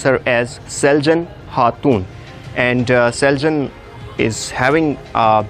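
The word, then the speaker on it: Selcan Hatun: be the vibe of good or do is Celgene ha tune in Turkish language C is pronounced as G so you need to pronounce her as Celgene heart tune and Celgene is having a beautiful sister who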